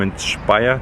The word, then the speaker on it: Speyer: it's day one of my Museum tour I'm Inspire today that's how it's pronounced oh and that is how it's spelled